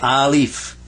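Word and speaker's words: ألف: stick like that and say a leaf like a leaf leaf a leaf and it has the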